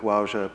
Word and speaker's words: Wauja: And so one of the objectives that I and Wauja people have in this project is making connections